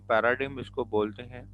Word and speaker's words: paradigm: अर्जेंस हुई है positivism P ए आर ए डी आई जी एम इसमें जी जो है वह साइलेंट होता है तो हम पैराडैसे ऑफ बिलीफ सेट ऑफ